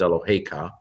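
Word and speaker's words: אֱלֹהֶיךָ: Notice how the accent is on the hey, not on the ka. Normally Hebrew accents the last syllable, but with this particular form where you have ka on the end, it's your God is what it is, Eloheka. It goes on the second to last syllable.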